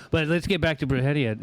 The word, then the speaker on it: Brujeria: Then when Jerry had once told me about Bruhia, how long at least you can say it right. Most people are brueria.